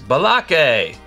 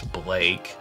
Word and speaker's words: Blake: And people are, you know, mispronouncing the names. Balake! It's Blake. Blake.